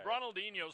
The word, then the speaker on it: Ronaldinho: I took the 7, Ronald Inho. Is that how we pronounce that?